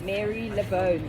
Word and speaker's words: Marylebone: Mary Lebone. It's spelled Lebone. but we are here in Marylebone.